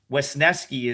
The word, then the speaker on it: Wesneski: But, like I kind I don't dislike So, what what I I I'll always butcher his name so I got to spell it. Wesneski Wesneski is is is how you pronounce his name.